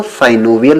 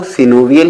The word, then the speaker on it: synovial: कुछ लोग सिनोवियल joint को साइनोवियल जॉइंट भी पढ़ते हैं। वैसे जो करेक्ट प्रोनाउंसिएशन है दोस्तों वो सिनोवियल ही है, लेकिन अगर आप साइनोवियल पढ़ लेते हैं तो इसमें आपको कोई प्रॉब्लम नहीं होने वाली है। दोनों ही एक्सेप्टेबल हैं, सिर्फ आपको समझ में